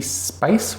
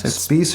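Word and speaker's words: Spiece: It was programmed by Ricky Spice. Would you say his name is? Spice or Spice? It's spelled S-P-I-E-C-E.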